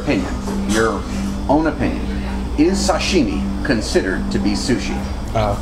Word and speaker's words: sashimi: Additionally, a lot of people make the mistake of calling it sashimi or sushimi. The proper pronunciation is sashimi.